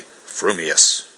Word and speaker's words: frumious: your mouth and speak if your thoughts incline ever so little towards fuming then you will say fuming furious if they turn by even a hair's breath towards furious you will say furious fuming but if you have the rarest of gifts a perfectly balanced mind you will say frumious supposing that when pistol